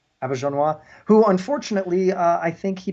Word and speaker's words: Auberjonois: Well, it's French, so Auberjonois, who unfortunately, I think he passed away earlier this year.